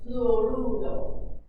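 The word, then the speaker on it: fluoruro: It is fluorudo. Notice I'm trying to roll my tongue a little bit. Fluorudo. And if it's faster, it sounds more like fluorudo. Kind of wavy, all right?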